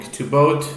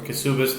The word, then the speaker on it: Ketubot: His name is Ash Mays, and he made a video about one of the really controversial pieces of Talmud in Ketubot or Kesubos, depending on your pronunciation, that talked about a